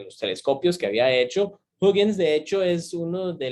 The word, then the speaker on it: Huygens: Eso en español mucha gente le dice Huygens. El otro día estaba hablando con un compañero mío holandés, que aparentemente así no se dice ese apellido, porque ese señor Huygens era de Holanda. Aparentemente se dice Huygens en Holanda, y que así no